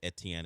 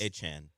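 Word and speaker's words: Etienne: the general NFL public to not call him Etien anymore? Travis Achan. Cuz when people tweet about Travis Achan, they just will it's EN like three letters just ETN. Yeah. Just to shorten it. That's how it until today was pronounced.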